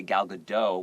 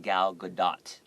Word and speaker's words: Gal Gadot: name of gal gadot a lot of people say gal gadot without the T but it's actually pronounced gal gadot so that's a big